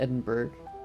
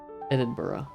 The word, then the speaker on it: Edinburgh: not intend to follow the Great Road to Edinburg Edinburgh that's how you pronounce it I remember in this exp in